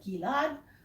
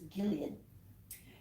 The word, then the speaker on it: Gilead: ask for balm of Gilad, what you get is, and you even get a different pronunciation. In English it's Gilead, is the buds of